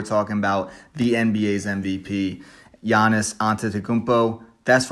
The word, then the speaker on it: Giannis Antetokounmpo: but today we're talking about the nba's mvp giannis antetokounmpo that's right i know how to say it